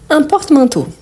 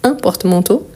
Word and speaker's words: porte-manteau: Donc, porte-manteau, la prononciation du mot, isolément, plus ici, ça ne change pas. Par contre, ici, l'article, il change et ça change tout. Donc, un porte-manteau, des porte-manteaux.